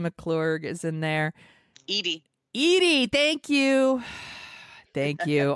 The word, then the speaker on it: Edie: oh yeah and we got some john aston eddie mcclourg is in there edie edie thank you thank you i always mispronounced someone's name it was bound to happen